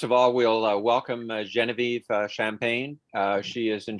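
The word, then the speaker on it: Geneviève: club as she said genevieve champagne is that how you say it in french genevieve uh my name in french is showing vf champagne oh that's that's even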